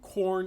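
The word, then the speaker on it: Quorn: chicken it's corn um corn as in q-u-o-r-n corn i i saw maybe it is called corn and pronounced the same way as corn like you know ear of corn but i pronounce it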